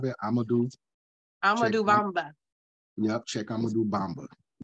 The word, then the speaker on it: Amadou: Sheikh Amadou. Like Moudou with an am in front of it. Amadou Bamba.